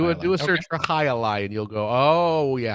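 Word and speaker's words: jai alai: no i don't look look up high a lie and you'll see the scoop and you'll go oh it's that uh-huh but it's spelled was it j-a-i yeah yeah and then a lie is a elder what is it a-l-a-i i believe a-l-a-i that's two words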